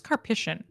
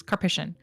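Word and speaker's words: Karpyshyn: or sorry I think I always pronounce his name wrong I think it's kpic I Googled it once kpic um he's working on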